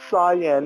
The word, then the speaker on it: Cyan: right he pronounced it right the whole game. He said Cyan. Now he's gone all the way back to Cian. He's reverted all the way back to the awful pronunciation.